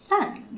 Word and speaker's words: saan: And the word saan we can shorten to just san.